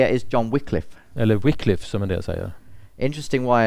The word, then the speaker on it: Wycliffe: the interest it's spelled w-y-c-l-i-f-f-e then the story but it's pronounced Wycliffe weekly because in the Old English a y and the I was the same thing and if you look